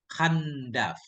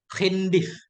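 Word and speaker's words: خندف: Khandaf, bukan Khandaf ini bacanya. Khindif, dengan kasrahkan.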